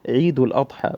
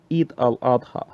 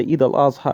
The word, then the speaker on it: Eid al-Adha: is known in Islam, as we pronounce it in Arabic, as Eid al-Adha, which is Eid al-Adha, or as some people would say, Eid al-Azha, and so on.